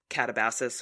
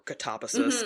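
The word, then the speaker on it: Katabasis: We had also read um RF Quang's Catabasus or Katabasus depending on what country you're in and how you want to pronounce the word and there are these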